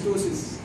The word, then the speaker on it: ptosis: It is called ptosis. P is silent, it's ptosis.